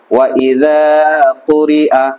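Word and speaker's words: وَإِذَا قُرِئَ: ঠিক আছে, তাহলে উচ্চারণ কি হবে ওয়া ইযা কুরিআ।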